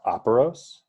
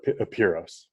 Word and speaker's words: Apiros: he said in greek it would probably be pronounced operos but i call it a puros okay so how would someone go about you